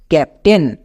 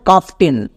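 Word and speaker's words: captain: পিপটি এ আই এনটেন ক্যাপ্টেন নট কাপটেন আমরা কিন্তু কাপটেন উচ্চারণ করি তাই আমাদের রিডিং ভুল ভাই আমরা উচ্চারণ করব ক্যাপ্টেন ওকে আরেকটি ওয়ার্ড দেখ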